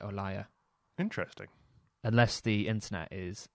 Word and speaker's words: Olalla: liar by the way i always thought it was called a lala but i is that how you pronounce it i discovered that you're actually supposed to pronounce it or liar interesting unless the internet